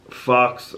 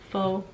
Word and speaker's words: faux: It's not a fox. Well, how do you say it? Faux. Faux. Why would you put an X on faux?